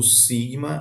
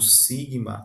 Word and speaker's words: sigma: Outra particularidade é que o sigma ele sempre é pronunciado com som de s como em sim. Assim nunca com som de Z.